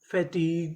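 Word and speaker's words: fatigue: Meaning क्या बनी colleague F ए फ टी आई T fatty ji यू ई ग फटीग फैटी फैटीग तो चारों मीनिंग क्या बनी?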